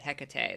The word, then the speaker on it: Hecate: I couldn't remember how they pronounced it. Hecate, that's right.